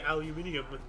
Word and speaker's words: aluminium: president Donald Trump announced tariff increasing on Turkish steel and aluminum whereas the British say aluminium yeah they must have